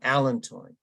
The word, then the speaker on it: allantoin: extract from comfrey called allantoin. And different people pronounce this different way, but I heard it on the pronounce app this morning, allantoin.